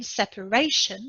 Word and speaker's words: separation: first syllable as well separation is a noun in separation the stress is on the third syllable just before the end in territory the noun